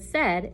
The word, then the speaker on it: said: them i would say this is the word said it rhymes with head and then i would